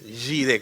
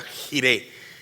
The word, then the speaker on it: Jiré: son importantes Jehová giré acuérdense de yire como si se escribiera con y pero se escribe con j es como si se dijera jire pero es le decimos yire Jehová jiré el señor